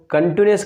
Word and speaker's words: continuous: ध्यान रखना है गाइस, क्योंकि ज़्यादातर लोग इसका प्रोनाउंसिएशन कंटिन्यूअस कर देते हैं जल्दबाजी में। कंटू जैसा तो कुछ यहाँ पर दिखाई नहीं दे रहा, बल्कि कंटी जरूर है, तो इसलिए इसका प्रोनाउंसिएशन आपको ध्यान रखना है, प्रेजेंट कंटिन्यूअस टेंस।